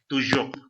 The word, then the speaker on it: toujours: It is not English J. It is J. Okay. Toujours. If I had no reason to make a sound for H along with the J, then I would not include in pronunciation.